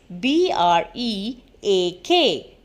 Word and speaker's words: break: e a k break so when we said break b r a k e we said break and when we said break b r e a k break so the both sounds same so the meaning of